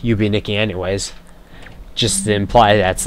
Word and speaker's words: Yume Nikki: i call it that way even though it's pronounced you be nikki anyways just imply that's like the second game